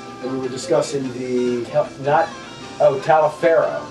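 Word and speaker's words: Taliaferro: at Pellifer Hall, and we were discussing the, Talifero. right, whatever it was called. That was right after the Skinner, Pronounce right? it Tolliver.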